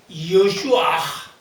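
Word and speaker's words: ישוע: 그러나 모국어 히브리 말로 들어가면 여슈아. 그 발음 탁한 발음을 하기가 거북하잖아요.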